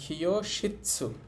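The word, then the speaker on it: きょうしつ: তাহলে এখানে উটা উচ্চারণ হবে না, তাহলে উচ্চারণ হবে খিও। এখন খিও বলতেছি কেন? কা লাইন শব্দের শুরুতে থাকলে সেইটার উচ্চারণ ক্ষয়ের মতো করা যায়। তাহলে খিও শিৎসু, খিও শিৎসু অর্থ হচ্ছে ক্লাসরুম, খিও শিৎসু ক্লাসরুম।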